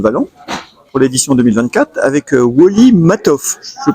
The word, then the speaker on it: Woli Matthov: Donc, enfin, nous sommes au Salon des super-héros de Valence pour l'édition 2024 avec Wally Matoff. Je le prononce bien?